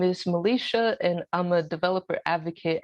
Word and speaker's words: Milecia: next presenter to the session um is pronounced melisha thank you melisha yeah um she's her talk